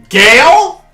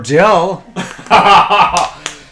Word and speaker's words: Gail: Gale? You had a girl's name? Well, it could be worse. I could have pronounced it Emperor Jill. Sorry, Emperor Gale.